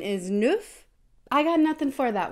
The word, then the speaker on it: neuf: wheat diet full on wheat diets 9 is neuf I got nothing for that one but I